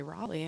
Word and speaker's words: Raleigh: in Raleigh Raleigh Raleigh the coaching I'm receiving is that it's rally which one is it I mean I say Raleigh all right am I